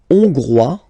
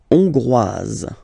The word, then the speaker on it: hongrois: La Hongrie, hongrois, hongroise. Okay, hongrois, grois, hongroise. Okay, so here final S not pronounced for the masculine form, and then you pronounce it here for the feminine form.